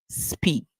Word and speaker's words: speak: Speak. Remember, E and A can make different sounds. In this word, we're hearing the E sound. The E is making the sound and the A is silent.